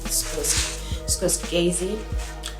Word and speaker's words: Scorsese: You remind me of Martin Scorsese. I know the pronunciation didn't sound right, but it's literally 1 a.m.